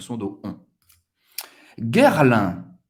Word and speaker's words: Guerlain: Guerlain. Guerlain. Guerre. Ok? G-U-E-R. Vai ser pronunciado guerre. Guerre, como a guerra. Guerre. Lin. A-I-N tem o som do 1. Guerlain.